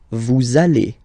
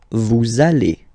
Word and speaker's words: vous allez: We'll have this little link between the two. Vous allez. Vous allez.